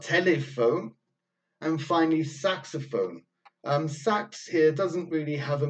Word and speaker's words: Sax: maker I think Adolphe Adolphe Sax or sucks maybe probably be the correct pronunciation so that the saxophone